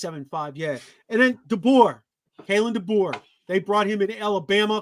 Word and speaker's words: DeBoer: Man, you think, okay, how you pronounce Dober, whatever his name is? DeBoer.